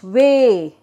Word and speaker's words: weigh: before the letter i when both the letters e i are pronounced as a a sound okay as a sound